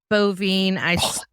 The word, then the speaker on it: Boivin: Boivin.